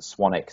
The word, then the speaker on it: Swanwick: n w c k so it's spelled swanwick but it's pronounced swanic so yeah swan.